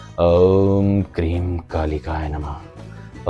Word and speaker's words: ॐ क्रीं कालिकायै नमः: को अपने जीवन में शामिल करें और सही उच्चारण की बात करें तो वो है ओम क्रीम कालिकाय नमः ओम क्रीम कालिकाय नमः कल्याण हो धर्म की